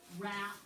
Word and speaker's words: wrap: and um i let's circle rap in the sentence and the silent w and then write wrap on the line that